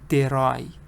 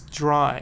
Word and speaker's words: dry: you pronounce the CCV CCV is not a CVC it's a CCV so you have to be careful it's not it's not for example derai it's dry it's together you have two consonants